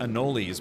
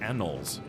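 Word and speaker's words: anoles: Uh I I don't know how I some people pronounce it anolies, but I think it's just pronounced annoles.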